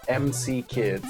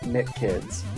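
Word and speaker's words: M.C. Kids: The manual very specifically tells you that you have to pronounce this as Emcee Kids. That's the life of the I lead, and you sucker MCs into our feet. By the way, not McKids. Not McKids.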